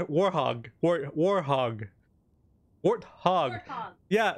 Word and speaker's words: Warthog: war hog warthog yeah warthog yeah thank you I keep saying war thong I've been saying war thought for the longest time and I know I've been saying it wrong and I just never changed it but yeah warthog we